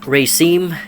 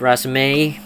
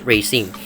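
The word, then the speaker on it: raceme: I mentioned uh the type of importance is Racine that's the correct pronunciation of this kind of uh flower uh stock formation or in fluorescence of Tri fasciitis they are called uh Racine not rasmine like I mentioned before I checked and they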